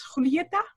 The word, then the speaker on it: Julieta: And today I just heard we had to pronounce it as Julieta, right?